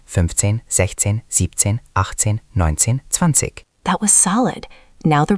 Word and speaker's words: zwanzig: Spelling has zwei and pronunciation is usually zwanzig with a soft ending. Zwanzig. Good. Focus on starting with ts, zwanzig.